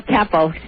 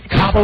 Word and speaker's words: Capo: No, Capo. Capo like head of the mob.